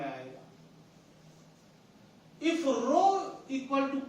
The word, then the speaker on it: rho: This is Greek word pronounced as rho, R-H-O, rho.